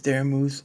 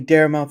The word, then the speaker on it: Daramouthe: My name is Daram Moose or Dare for short because because some people like to say Dare Mouth and it's not funny anymore. Okay, I get it. It's spelled a little weird.